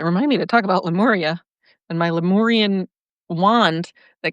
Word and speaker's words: Lemuria: Lemuria, not Lumeria. Lumira, that's beautiful. I love it. I love it. And P.S. Oh, I got to remind me to talk about Lemuria and my Lemurian wand that got eaten up by the ocean.